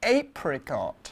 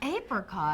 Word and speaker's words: apricot: No, it sounds like apron. Oh dear, well it's the same sound as apron, so that's why we say apricot. No, we say apricot to distinguish it from apron.